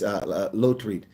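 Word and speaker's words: Lotriet: I almost got it wrong. It's Lotreat.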